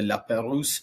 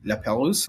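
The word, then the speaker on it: La Pérouse: It's separated by a narrow body of water called the La Peruse Strait and L P E R O U S. La Peruse, a French explorer.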